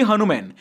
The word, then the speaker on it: HanuMan: release के बारे में मैं पहले इस मूवी को हनुमान प्रोनाउंस कर रहा था लेकिन तेजा साजा का इंटरव्यू देखने के बाद मुझे पता चला कि इस मूवी का नाम हनुमान नहीं हनुमन है अगर आप जानना चाहते